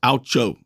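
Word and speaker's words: OUCHO: the legal profession it's an acronym o-u-c-h-o it's pronounced aucho if you've ever heard it and if you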